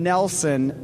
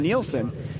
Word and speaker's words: Nelson: And then I got to give Harlem Nelson a big apology. I've been pronouncing his name wrong, and I shouldn't be. I was channeling Moto KK with that and calling him Nielsen.